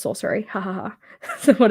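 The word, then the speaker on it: Scoceris: And the last S is silent, so it's sorcery.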